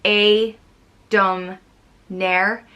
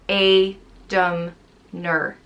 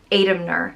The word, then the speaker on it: Aedamair: there also meaning fire it's pronounced a dumb nare or a dumb nur adamner it's usually spelled a